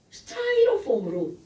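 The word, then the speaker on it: Styrofoam: 스타이로폼으로 막아놨어. 니네 스티로폼이라고 하죠? 영어 발음은 스타이로폼입니다.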